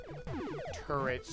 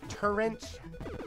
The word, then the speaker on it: turret: Turrets. I had a friend who pronounced it turrent, like current.